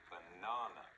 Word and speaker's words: banana: Do you remember where the stress is? It's on the 2nd syllable. Banana.